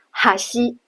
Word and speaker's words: 橋: 顾名思义，这样的单词它的重音呢在结尾的最后 1 个假名上。比如哈西，桥这个单